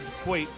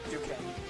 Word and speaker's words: Duquesne: Number 7, Dayton is up 66-60 over DeQuaite. Duquesne. What? Duquesne. Oh, I can't pronounce it.